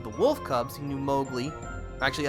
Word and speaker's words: Mowgli: He knew Mowgli. Actually, I think in the book, he's pronounced Mowgli.